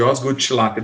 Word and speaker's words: Osgood-Schlatter: bom e se escreve assim a doença de osgood-schlatter é assim que se pronuncia tá hoje eu vou falar com a